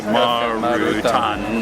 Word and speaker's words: Marutan: Yes, Cafe Marutan. Actually, Marutan is the Japanese pronunciation for Martin, which is my first name.